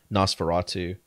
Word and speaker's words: NOS4A2: One of them is The Fireman, and the other one is Nosferatu. But it's spelled where it's like NOS4A2.